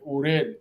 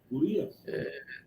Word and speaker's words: Urías: y viendo a cruzar, vio la esposa de Uriel, right? Así se pronuncia el nombre de él. Am I saying it right? Urías.